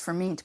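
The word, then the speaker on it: Furmint: dry for me too it's pronounced for meat but it's actually spelled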